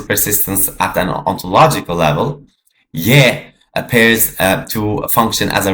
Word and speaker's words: Je: This is the yeah, not J. J is an English pronunciation that obviously is modern and new. So I'm going to use the yeah, okay, the yeah pronunciation, which was truly how it was.